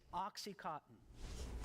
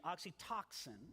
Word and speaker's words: oxytocin: One of the chemicals that mediates these feelings is Oxycontin, which is the same chemical mispronounced it. that is, oxytocin, You which is mispronounced it again.